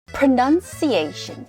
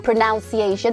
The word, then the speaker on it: pronunciation: 합니다 크라고 발음하지 않아요 pronunciation pronunciation 발음이라고 입니다 자이 단어를 배워보기 전에 pronounce 동사로 발음하다 pronounce pronounce 하지 명사로 발음은 pronounciation 아니야 이렇게 pronounciation 이렇게 바람 하지 말라고 pronounciation pronounciation 자동차라는 단어